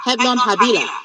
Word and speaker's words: Helon Habila: Hebnon Habila. You're right. Your pronunciation is okay.